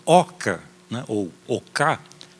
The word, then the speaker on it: oca: importante como é numa oca né E numa oca ou OC né seria a pronúncia correta em Guarani a a Ok como